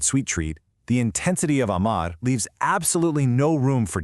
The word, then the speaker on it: amar: Amar. Just two simple syllables, but they basically carry the weight of the world. The mechanics for this one are wonderfully simple, with that wide, open ah sound.